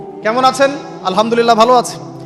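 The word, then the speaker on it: الحمد لله: আলহামদুলিল্লাহ ভালো আছি তো আলহামদুলিল্লাহ না বলে সে বলেছে আলহামদুলিল্লাহযে হা এর উচ্চারণ পরিবর্তন হয়ে গেছে এই কারণে অর্থ পরিবর্তন হয়ে দাঁড়াবে সমস্ত নিন্দা আল্লাহর জন্য যিনি জগৎ সমূহের রব আমার কথা কি বুঝতে পারছেন শুধু হা এর মাখরাজ ভুল হওয়ার কারণে এই সমস্যা হল তাই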